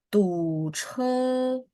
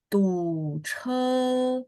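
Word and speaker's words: 堵车: 肚子 Oh, che nada 1. Tu che. 堵车 Yes. 32. 问题很好. 31. 再来一次. 31. Boleh sekali lagi. 堵车 Oh, nadanya ya. Tu che. 哦呀，堵车 Ya, che nada 1 ya.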